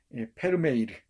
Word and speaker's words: 페르메이르: 우리 페르메이르, 페르메이르란 네덜란드의 유명한 화가 있죠. 진주 귀걸이를 한 소녀 그린 사람입니다. 딴 얘기 안 하려고 그러는데 자꾸 이 병이야 병. 베르메르라고도 하고요. 페르메이르라고도 합니다. 네덜란드어로 있자면 페르메이르라고 발음해야 됩니다.